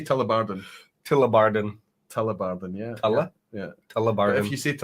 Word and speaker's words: Tullibardine: It's pronounced Tullibardine. Can you let's just say Tullibardine?